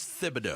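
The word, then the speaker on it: Thibodeau: I know that there were complaints about Tom Fibido, Tibido, however you pronounce it. It is Thibido.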